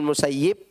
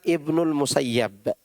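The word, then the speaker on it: المسيب: ada yang membacanya Ibnu musayyib ada yang membacanya Ibnu musayyab ya yang Ana tahu yang benar Ibnul musayyab rjulun bihiuntihiuhuuunaru ba bihi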